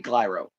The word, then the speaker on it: Clyro: I can pronounce it. Biffy Clyro.